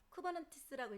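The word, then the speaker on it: Kubernetes: 읽을 때는 쿠버네티스라고 읽고요. 쓸 때는 K8S. K와 숫자 8 그리고 S. 왜요? K와 S 사이에 8개 글자가 들어가 있거든요.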